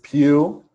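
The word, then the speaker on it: Pugh: was last year um danny played by florence pew i learned how to say it yes thank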